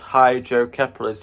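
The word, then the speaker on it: hydrocephalus: So the condition that I've got is called hydroepolis which is spelled h y d r o c e p h a l u s.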